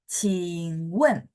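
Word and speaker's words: 请问: Ya, tapi kalau dia sampingnya ada huruf lain, maka cing turun juga baru nyambung huruf sampingnya. Qingwen gitu ya.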